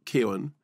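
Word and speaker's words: Keoghan: it and he said well technically it's Ken he said but everyone including me says Kian like K so there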